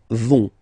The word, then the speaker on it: vont: And the last persons, ils, elles, vont. Ils vont, elles vont. Okay, remember, final T not pronounced, so you get this ON nasal here.